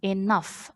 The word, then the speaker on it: enough: as you can see when you see the g h are followed with each others we say F sound enough f f so anytime you see the GH you are going to pronounce it f so enough repeat after